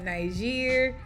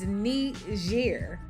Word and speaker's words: Niger: these people the respect put some respect on their name by pronunciating the name of their country correctly is not Niger it's not Niger it's neat year okay so let's start